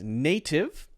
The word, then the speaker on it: native: could be pronounced as native but because the t is in the middle of the word f followed by a vowel sound this will often be pronounced as a d now we look at